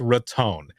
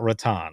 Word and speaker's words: Raton: say that again it's it's raton not rattan i was like all